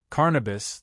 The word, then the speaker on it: Carnabas: Carnabas, the same pronunciation as cannabis.